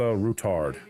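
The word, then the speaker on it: Ruthard: Rosa Rutard. Next time I'll even fight. That is the actual pronunciation of their last name is not what I chose.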